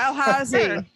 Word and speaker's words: Dalhousie: Then moved on to, I don't know how to pronounce this university, Dalhousie. You could, Sure. that's sure. Sure. Dalhousie.